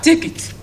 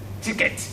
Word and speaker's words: ticket: Then we have ticket. A typical Nigerian, not you student that attend this class will pronounce what? Ticket. It's not ticket, but what? Ticket.